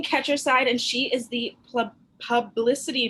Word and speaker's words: Ketcherside: st louis and is your last name pronounced let's catch your side catcher side okay catcher side and she is the